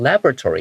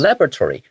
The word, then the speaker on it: laboratory: the robots were originally developed by 这样。然后这里的话，其实有点像是一个名词后面接着一个过去分词所带的一个小小的这种修饰语这样的概念。那顺便说一下这个 laboratory 这个字，像我在念这个字的时候，我习惯念成 laboratory，因为这个字有2种念法。 Yes. Laboratory，或者那像 Steven 老师他会念成 laboratory。